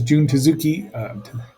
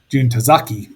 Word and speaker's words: Jun Tazaki: So there's Jun Tezuki. I just said his name wrong, probably. Jun Tazaki, pardon me, as the Red Bamboo commander, and then Akihiko Rado is the one-eyed captain.